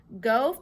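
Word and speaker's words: Gaux: Go family fish and bait. Guided swamp tours, live bait, crawfish by the sack. Box lunches to go, only that go is spelled G-A-U-X. Get it? Like a pun.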